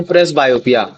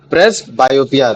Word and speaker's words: presbyopia: जिसको मैं बोलता हूं प्रेस बायोपिया। क्या बोलते थे उसको? प्रेस बायोपिया।